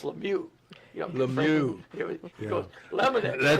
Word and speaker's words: Lemieux: Le call him Lemonex. It's It's Lemieux.